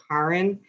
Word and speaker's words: Karen: Actually, Will, it's been a while, but it's spelled like Karen, but it's actually pronounced Karen. Karen. So think car in the garage, Karen.